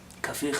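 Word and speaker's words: Kafih: Rabbi Yosef Kabach, Kafich as it should be pronounced, was one of the giants of Yemen.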